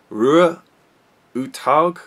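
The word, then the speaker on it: Roar Uthaug: This is directed by Norwegian director Rue Uthaug, which is as close as I can get to the Norwegian pronunciation of it.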